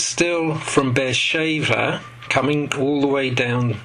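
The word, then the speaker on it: באר שבע: here you can see bear shaver which is how you say it in in hebrew bear shaver and he travels well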